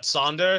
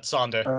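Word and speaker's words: Zander: beginning of the word it's like a ts sound like hats or something so it's sonder it's a short a sound so it's uh sander yeah okay thunder and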